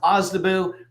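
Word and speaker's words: OSDBU: broader group is the ozabu office the office of small business uh small disadvantaged business utilization it's pronounced ozabu um and I put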